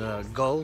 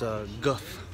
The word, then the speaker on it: Gull: this great beer here I've been pronouncing a gull but it's a guff it's actually got I guess the two L's or has the sound so it's a really